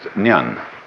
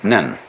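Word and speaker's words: 念: This it's pronounced nyan in Japanese nen.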